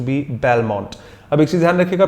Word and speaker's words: bibelot: BIBELOT, बिब्लो, हाँ जी शायद इसका प्रोनाउंसिएशन बिब्लो है, बिब्लो, T साइलेंट है, इंग्लिश वर्ड नहीं है, बिब्लो प्रोनाउंसिएशन है, माफ कीजिएगा अगर मैं थोड़ा बहुत गलत हूं, बाइबलोट जैसा कुछ भी नहीं है, बिब्लो प्रोनाउंसिएशन है जितना मुझे याद है इसका।